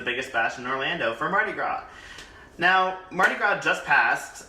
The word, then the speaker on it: Mardi Gras: awesome like that um first off is pronounced mardi gras not mardi gras or grass or however heck out to try to pronounce it is mardi gras it's from new orleans